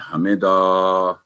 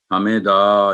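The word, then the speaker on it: حَمِدَهُ: लेकिन जब वक्फ करेंगे इस पे हा पर, तो जो उल्टी पेश है वो जज्म के साथ चेंज हो जाएगी, हा पर साकन की सुकून की अलामत आ जाएगी, तो ये होगा हमीदा, हमीदा, यानी लंबा नहीं दा नहीं करेंगे, ना हा को लंबा करेंगे, ना मी को, ना दाह को, हमीदा।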